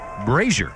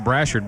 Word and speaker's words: Brassard: us know we were making a mispronunciation on one of the running backs names cam brazier instead of cam Brassard brazier is the leading